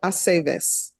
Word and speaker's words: Aceves: It's always ve. Ve, Aceves.